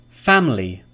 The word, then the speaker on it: family: Family. Family. Two syllables.